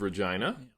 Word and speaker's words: Regina: So I am here in the beautiful city of Regina, that as they say rhymes with fun.